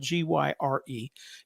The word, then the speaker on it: gyre: referred to as the ocean gyre it's spelled g-y-r-e it's pronounced gyre and the gyre is uh there